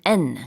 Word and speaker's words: condemn: 여기에 m하고 n 같이 들어갑니다. condemn, condemn. 근데 발음할 때는 m까지만 발음을 해요. 그러나 스펠링은 뒤에 n이 하나 더 붙습니다.